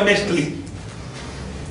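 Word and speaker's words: Metztli: Y en el año civil, Metzli, que se pronuncia Metzli.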